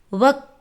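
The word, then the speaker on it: वह: வக் கானா காத்தா ஹை. வக் கானா காத்தா ஹை. அவன் சாப்பாடு சாப்பிட்றான். வக் கானா காத்தா ஹை. அவன் அப்படின்னா வக் அப்படின்னு ப்ரொனவுன்ஸ் பண்ணணும்.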